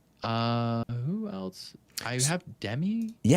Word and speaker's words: Dhruv: And you said it is Dhruv? Yes, it is. You You pronounced it correctly.